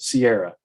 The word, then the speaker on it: Kiara: She renamed herself Kiara, pronouncing it Sierra.